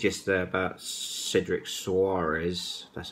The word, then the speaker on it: Cedric Soares: Now, I know what I said yesterday about Cedric Soares.